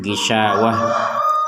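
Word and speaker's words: غشاوة: di kita membacanya gisawat tapi kalau tanya yang seperti ini kita membacanya gisawah menjadi huruf ha tapi kalau kita menggabungkan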